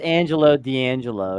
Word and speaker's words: Angelo D'Angelo: It's pronounced Angelo D'Angelo. Okay, don't let the spelling fool you.